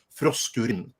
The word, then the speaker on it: Frosk: since hyper diver 2 got to started on frost that's by the way how you pronounce it because for some reason this woman